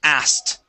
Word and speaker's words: asked: Okay, so instead of pronouncing the K, we're going to skip over it. We're going to get it out of there, okay? And we go straight to a T sound, and we say asked.